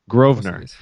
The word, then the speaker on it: Grosvenor: It's Ed Grosvenor. The S is silent. The S is silent. Grosvenor.